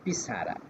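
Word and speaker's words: pizarra: বলব তো এটা স্প্যানিশে এটাকে বলা হয় হচ্ছে পিছারা যখন আপনাকে বলবে যে এটার উচ্চারণ কি হবে তখন আপনি বলবেন যে পিছারা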